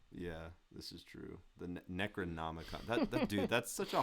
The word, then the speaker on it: Necronomicon: The Necronomicon. That dude, that's such a hard thing to pronounce.